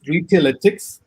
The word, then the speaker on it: Retailetics: So it's Retailetics, and the reason we came up with that is because we are essentially a data company.